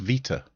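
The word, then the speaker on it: βήτα: Um, it's not beta under any circumstances. Um, modern Greek turns out it's not even a B. It's a V. It should be pronounced Va. There you go. Learn something new every day. At best, ancient Greek and with the B involved, it could be beta, but that's an anglicized version of it.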